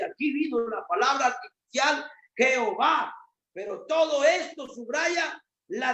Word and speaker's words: Jehová: Así Jehová es el resultado de la combinación YHWH y la palabra Adonai. Adonai y YHWH, las 2 la hicieron una. Y por eso se pronuncia Jehová, que es el dueño, es el dueño, el único.